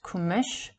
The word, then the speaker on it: Komas: This quality is just what the name Gilgamesh implies, the bright strong one, from Gil, white, fair, bright, and Komas, pronounced Kumish, meaning strength, power, ability.